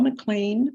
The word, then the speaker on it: McLean: my name is McLean I live in Santa Fe my name is spelled p-a-u-l-a m c Capital c-l-e-a-n like Mr Clean um I'm going to